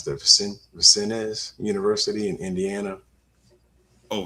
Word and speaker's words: Vincennes: He spent 1 year at I don't know how you pronounce that, Vincennes University in Indiana. Oh, Vincennes.